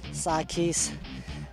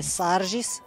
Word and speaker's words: Sarkis: É, tem muita gente que fala Sarges, Sarkis, mas é Sarges.